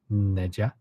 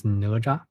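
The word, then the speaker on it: 哪吒: I don't know how it is pronounced in English. You know, how do you call it? It's Neja, Neja, Neja. In Chinese, it's Naja.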